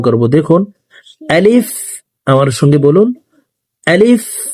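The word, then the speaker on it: ض: Scene শিন সদ স দ হরফকে মোটা করে উচ্চারণ করব। আপনারা আমার সঙ্গে বলুন। দেখুন দ।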